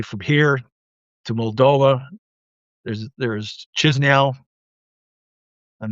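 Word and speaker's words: Chișinău: There's Chisinau. I'm not even sure I'm pronouncing it properly, but it's Chisiau, Chisinau.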